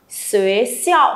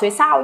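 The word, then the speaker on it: 学校: Xuế xiao. Không đọc xuế sao nhá. Y, âm y phải giữ cho cô.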